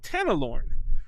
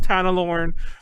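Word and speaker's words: Tanelorn: stories, and it's called Tanalorn. Taneloorn. Tanalorn. I may be mispronouncing it. I always pronounce it Tanalorn.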